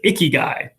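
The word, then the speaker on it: ikigai: this really fancy japanese word which is i pronounce it icky guy if you have your icky guy you are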